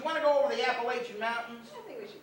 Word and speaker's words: Appalachian: Because in the Appalachian Mountains, actually Appalachian Mountains, if you're over there, that's how the way they pronounce it.